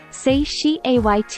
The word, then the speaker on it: satiate: of force May 7th satiate pronounced say she ayt meaning to satisfy something